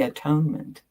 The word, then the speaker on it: atonement: The first syllable is at, the second is one. The last syllable is meant, this Latin ending meaning state of being. So whenever you see anyone talking about the atonement, you might want to